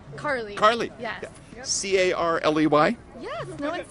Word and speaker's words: Carley: - Harley? Carley. Yeah. C-A-R-L-E-Y. Yes, no one spells it right. Oh my goodness since I mispronounced it, I had to spell it right.